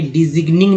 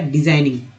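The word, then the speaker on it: designing: Over discounts, over directing, over डिजाइनिंग, यहाँ पे GN जो है, GN में G जो है साइलेंट एन का उच्चारण हुआ है, तो इनिंग हो गया। ऐसा तो नहीं कि डिजिग्निंग नहीं बोला गया, डिजाइनिंग।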